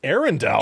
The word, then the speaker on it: Arundel: Arundel? Arundel. I know, it's spelled like Arundel, but still, Prince George.